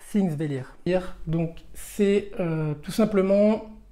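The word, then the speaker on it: Þingvellir: après j'ai enchaîné par pink vélite correction alors en fait ça se prononce things délire hier donc c'est tout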